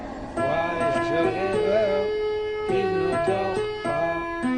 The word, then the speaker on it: voyageur: Ici, la lettre G, on le prononce, ou bien on la prononce ici, G. Pourquoi? Parce que il est écrit à côté de E. Toujours quand on a la lettre G à côté ou bien avec E, ou bien avec I, on la prononce G. On dit J et je. Donc ici, voyageur.